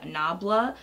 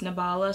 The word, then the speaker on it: Nabela: concealer it's from nabela you know when your eyes see what it sees so it wants to pronounce it that way so my I see nah blah but people say it's pronounced nabela so that's what I'm gonna say but this is